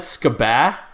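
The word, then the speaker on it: scuba: And if you don't pronounce the U with a short U, then you're a hypocrite. If you don't pronounce that skabah, then I don't even know what to say to you.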